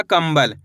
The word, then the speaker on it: कंबल: तो मिलके बन जाएगा कंबल। कैसे पढ़ेंगे? कंबल। यहाँ पे माँ का उच्चारण निकल रहा है इस तरीके से। अपन बिंदी को माँ के रूम में पढ़ रहे हैं, ना कि ना के रूम में।